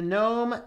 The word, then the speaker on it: GNOME: in the comments you know it's either gun gnome is the first correct pronunciation it is from the good new window